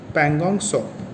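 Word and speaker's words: Pangong Tso: ये पैंगोंग सो है, PANGONGTSO, इसमें टी जो है वो ये साइलेंट होता है, सो बोलते हैं इसको, पैंगोंग सो।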